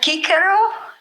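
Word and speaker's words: Cicero: now it's changed like Scholars pronounce a c as a k you heard about that so that would be marela I don't know I didn't really go for that because i k kick hero doesn't sound that good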